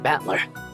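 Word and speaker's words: Battler: the characteristics for fight and person and it's pronounced batler put it all together and you've got ushir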